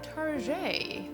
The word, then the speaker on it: Target: Number 4 on our list is Target, or Target. French pronunciation.